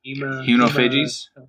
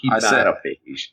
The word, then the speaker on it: hematophage: Hemonophages. What are they? Hematophage. You sound like you're saying it too fast. It's like hematophage.